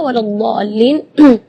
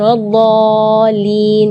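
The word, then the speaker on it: ولا الضالين: Di kalimat ini juga waladdallin yang perlu diperhatikan adalah madnya juga. Mad di situ kita harus panjang membacanya 6 harakat, karena di situ hukumnya mad lazim kalimi mutsaqqal. Jadi membacanya waladh 6 harakat. Terus setelah waladh di situ ada huruf lam yang ada di atasnya ada tasydid. Itu seringkali ketinggalan waladhdallin. Nah, itu berarti tidak ada tasydidnya.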